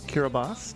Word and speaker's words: Kiribati: cover the tiny countries of kirbas not spelled like you think tuvalu and Naru welcome